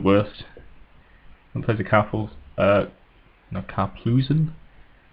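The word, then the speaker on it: Karplusan: One plays a no, Carplusen. I always used to say Carpulsen, but that's not actually how that's spelled.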